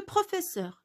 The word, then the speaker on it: professeur: Pourquoi je n'ai pas ajouté l'accent sur le E? Parce que E qui précède deux consonnes se prononce E. C'est une règle. Pourquoi pas, pourquoi on a écrit deux S? Parce que si j'écris un seul S, je vais prononcer le son Z.